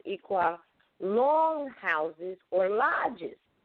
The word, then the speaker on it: Iroquois: And had forgotten that we taught the modern Europeans these sacred or secrets of the universe in the Iroquois, people say Iroquois, but it's pronounced Iroquois, longhouses or lodges right here on this land.